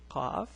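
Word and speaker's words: ق: The letter qaf, the pronunciation is qa.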